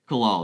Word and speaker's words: Kalal: or Kalal, is that the right pronunciation? Kalal, Yeah, Kalal.